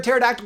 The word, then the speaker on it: pterodactyl: Why can't you hear a pterodactyl going to the bathroom? Cuz the P is silent.